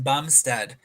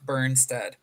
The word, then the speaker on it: Bumstead: and my greatest apologies it is Jordan Bumstead not burnstead but we're just doing